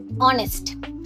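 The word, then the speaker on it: honest: অনেস্ট। এই ওয়ার্ডটিতে এইচ লেটারটা silent থাকে।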